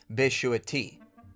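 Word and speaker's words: ישועתי: Well, the specific Hebrew word in Psalm 91 would be my salvation, and the way you would pronounce it is Beshuati.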